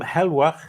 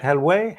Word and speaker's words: Helweh: ready uh we have adam helwa is that how you say it hell way hello hello hello both of them work yep yep i thought